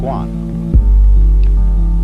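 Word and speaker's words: 觀: And the whole character is pronounced Guan.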